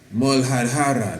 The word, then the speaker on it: Muladhara: The root chakra, Muladhara, that's how that is pronounced. Muladhara sounds somewhat like, what it is you studied?